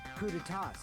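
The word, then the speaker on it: coups d'état: I remember hearing that they're dangerous guys who are responsible for terrorism, coup d'etats, and wars. Coup d'etats. That's how it's pronounced.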